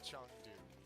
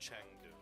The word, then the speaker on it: Chengdu: It is a Chengdu. It's not a Chengdu. No, but it is spelled that way.